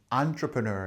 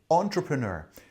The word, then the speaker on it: entrepreneur: little bit different like entrepreneur or something but um British people say entrepreneur closer to the French word because it actually comes